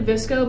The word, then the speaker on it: VSCO: I don't know if Xana had a Visco or not.